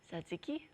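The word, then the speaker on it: τζατζίκι: हाँ, तो मैं आपको ऐसा वर्ड दूंगी, आप उसको प्रोनाउंस करके मुझे बताइए कि आप इसे कैसे प्रोनाउंस करेंगी। ये है आपका वर्ड, ज़ात्ज़िकी। वाह, ज़ात्ज़िकी। सत्सिकी, एक्चुअली सत्सिकी, सत्सिकी।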